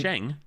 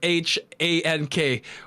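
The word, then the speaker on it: Shanks: Red Hair Shang? No. I'm pretty sure it's spelled as SHANK.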